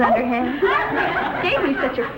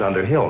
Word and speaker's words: Underhill: wonderful taste in men thank you mrs underhand mrs underhill not mrs underhand elizabeth you mispronounce it your way i'll mispronounce